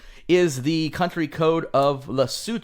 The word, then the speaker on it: Lesotho: numbers are 266 is the country code of lassoo 2 which is actually I I did look up the pronunciation luckily because otherwise I would have said Lesotho I would have said that too what do